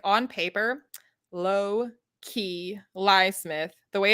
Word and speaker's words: Loki: better to read it, because like on paper, Low-key Lysmith, the way it's spelled, you might be like, okay, that's Loki, but you also could easily not.